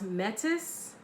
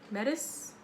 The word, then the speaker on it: Metis: learning about this goddess I believe her name is pronounced Metis Metis and she symbolizes wisdom